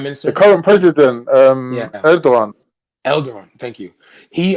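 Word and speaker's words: Erdoğan: Um Erdogan. Elder. Thank you. He Erdogan.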